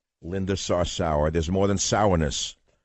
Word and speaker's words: Sarsour: si R sou our emphasis on the last syllable of her last name Linda sauce our Linda sauce our there's more than sourness